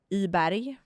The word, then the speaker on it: Weiberg: No, so my Swedish name is Weiberg. Okay. Iberg, we say.